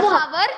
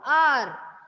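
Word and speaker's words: hour: with a consonant letter, the consonant letter H is not stressed or it is silent. Okay, the sound which we are beginning that word is actually a vowel sound. R.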